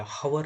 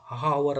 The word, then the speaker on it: hour: ನಾವು ಹೆಚ್ಚಿನಿಂದ ಉಚ್ಚಾರಣೆ ಮಾಡ್ತಾ ಇಲ್ಲ, ಹವರ್ ಅಂತ ಹೇಳ್ತಾ ಇಲ್ಲ. ಯಾರಲ್ಲ ಹ ಬರ್ತಲ್ಲ, ಅವರ್ ಅಲ್ಲ, ಆ ಬಳಸ್ತೀವಲ್ಲ ಅವರ್, ಓನಿಂದ ಪ್ರಾರಂಭ ಆಗೋದ್ರಿಂದ ಆ್ಯನ್ ಅವರ್ ಅಂತ ಬಳಸಿದ್ದೀವಿ.